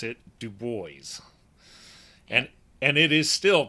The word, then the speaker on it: Dubois: it so in kind of a protest they pronounce it du booys and and it is still pronounced that way